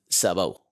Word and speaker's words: sabot: you're from probably is what I call sabbo. Yeah. Yeah. Even which you're like that's not right. But I'm like that's how you say it. Sabo.